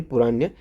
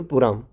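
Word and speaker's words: पूरम: Sorry पुराण, त्रिशूर पुराम, नाम यार pronunciation में काफ़ी गलत हो रही है।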